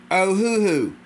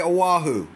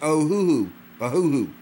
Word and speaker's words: Ohuhu: o h u H hold on a second oh who who some people say Oahu or ahahu it's oh who who okay these are good markers these are good